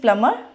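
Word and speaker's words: plumber: बी इकट्ठा आ गया तो आपने बी को क्या करना है साइलेंट करना है तो वो वर्ड्स कौन से हैं हमारे कौन से वर्ड्स हैं first is प्लमर climb बमर देखिए इन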